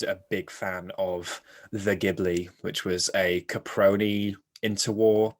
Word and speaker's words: Ghibli: However, because in Japanese, the soft G is not necessarily a word that a sound they use in their phonology. So Ghibli would be how they pronounce that word. And so it became Ghibli from that.